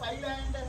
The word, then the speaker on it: island: And what is the spelling of island? Kada? Kada? So here what is silent? S is silent.